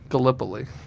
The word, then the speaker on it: Gallipoli: Okay, that was Cliffs of how do you pronounce that? Gallipoli. Gallipoli.